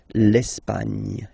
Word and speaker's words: Espagne: Okay, don't insist on the final E because basically it's not pronounced. L'Espagne.